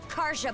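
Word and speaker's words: Karja: it my name's Kara Kara I was expecting to be Kya because don't don't Scandinavian countries usually pronounce the J as a y instead like yepo that's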